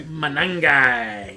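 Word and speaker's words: Monangai: Manangi.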